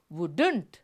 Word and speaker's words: wouldn't: இங்கே wouldn't இந்த எல் என்ற சொல்லு சப்தம், ல என்ற சப்தம் நிசப்தமாகின்றது. அங்கே நாங்கள் அதை உச்சரிப்பதில்லை, அதை நாங்கள் சைலண்ட் லெட்டர்ஸ் என்று சொல்லுவோம். Silent sound வுடுண்ட், silent sounds. நாங்கள் இங்கே இந்த புதிய விஷயத்தை இன்று படித்துக் கொள்வோம். வுடுண்ட், எல் இஸ் சைலண்ட்.